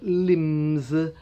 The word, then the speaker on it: limb: Parts of the body, your arms, your legs, the long parts are called limbs, L-I-M-B, limb.